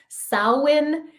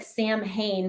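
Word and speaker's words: Samhain: and of Miracles and so happy Halloween happy sa uh spelled like it looks like Sam Hayne but it's pronounced SA happy post Eclipse wow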